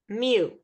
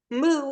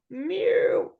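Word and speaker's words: mu: a little secret so this me is from the Greek alphabet that's why it looks weird it's pronounced like Mew okay yeah what a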